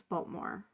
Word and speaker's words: Baltimore: And like you would know a Marylander's from there if they say like, I'm from Maryland, and they don't pronounce the T, it's Baltimore.